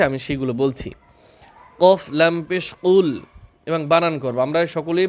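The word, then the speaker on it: قُلْ: কুলহুয়ল্লাহু আহাদে এখানে কিছু নিয়ম রয়েছে আমি সেগুলো বলছি কফলাম পেশ কুল এবং বানান করব আমরা সকলেই বানান করে সূরাটা শিখব বড়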